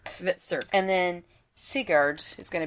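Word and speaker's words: Hvitserk: Hit it started with the H but HV the H is silent. Oh, Vitzer. Vitzer.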